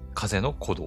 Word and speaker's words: 風の古道: 風は風ね。ビュービュー吹く風に、古の道と書いて、風の鼓動っていう風に読むらしいです。